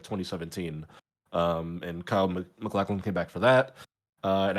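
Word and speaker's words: Kyle MacLachlan: I want to look at this post from, I believe it's pronounced Kyle McLaughlin, who was in Twin Peaks.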